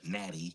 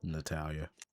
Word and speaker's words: Natalia: Since you don't like to say her name correctly, Natty. Natalia. You feel me?